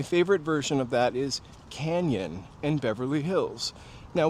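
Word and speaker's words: Cañon: My favorite version of that is canyon in Beverly Hills. Now, when you put a tilda over the N, that makes the ny sound. So, it's not canon, canyon.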